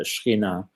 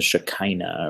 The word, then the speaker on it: Shekhinah: Of course, Hashem is everywhere, but we're talking about his concentrated presence, like the Shekhinah, what some people pronounce, the Shekinah, or however it might be said.